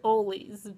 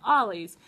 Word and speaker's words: Ollie's: haul video at a store called oh I pronounce it always but they've been correcting me down here in Atlanta and they caught Ollie's um I still don't answer visiting family and